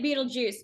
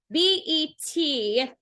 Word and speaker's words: Betelgeuse: So most people are calling it Betelgeuse, but it's Betelgeuse.